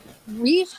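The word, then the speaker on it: Reisch: his name is Scott Reese I think you pronounce it r e i s c h and he'll answer questions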